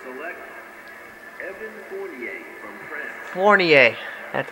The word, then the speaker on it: Fournier: Fournier, that's how you pronounce it.